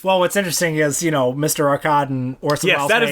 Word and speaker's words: Arkadin: Arkadin, Orson Welles... Yes, that is the correct way to pronounce it.